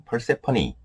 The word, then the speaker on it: Persephone: 하나에 그리스 신화에 등장하는 벨 세포 4 영어 발음은 8세 퍼니 뭐 회원 것 같아요 간단하게 만 속에만 할게요